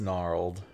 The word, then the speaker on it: gnarled: up at the um not gnarled it's just gnarled the G is here the g is silent it's a silent G see it's a gnarl of generations that's why the G is there Generations Generations tonight